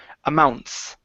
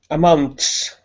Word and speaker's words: amounts: Give me a good s here at the end instead of amount. Amounts. Amounts.